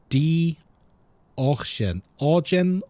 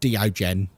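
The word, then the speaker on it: Deogen: So Die Orgen or Ochen. You hear it pronounced slightly different depending on who's saying it, but it's not Diogen.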